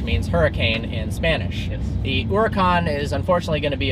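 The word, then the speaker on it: Huracán: now the latest v10 supercar is called the hora con which means hurricane in spanish the oricon is unfortunately going to be a very hard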